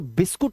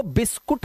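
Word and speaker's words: biscuit: लेकिन रियलिटी यह कहती है कि यह बिस्कुट वर्ड नहीं है। इसका जो अनुवाद होता है, इसका जो प्रोनंसिएशन होता है, वह ई होता है। ई बिस्किट।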